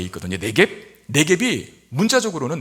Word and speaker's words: 네겝: 네겝. 네겝이 문자적으로는 그 문자의 뜻은 마른 땅이라는 뜻입니다. 그러니까 이스라엘의 그 가나안 남부 건조한 사막지대를 가리키는 말, 네겝이라 그래요. 네겝부거든요. 부는 묵음이 돼서 네겝이라고 하는데, 여러분, 당시에는 농사지어서 정착생활을 해야 되니까 농사지어서 먹고 살아야 되거든요.